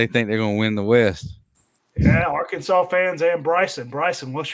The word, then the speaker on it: Arkansas: i did say it i did say it wrong on purpose it wasn't because i'm an idiot our kansas i think is funnier arkansas i mean i think